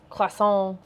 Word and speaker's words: croissant: There's our croissant. Croissant. Sorry, you don't pronounce the T, right?